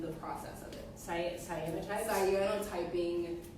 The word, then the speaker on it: cyanotyping: Cyanotyping, canotyping. We're talking about which proper way to say it, but it's cyanotyping. I think so.